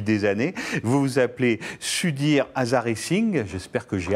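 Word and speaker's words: Sudhir Hazareesingh: Vous vous appelez Sudir Azaring, j'espère que j'ai à peu près prononcé votre nom.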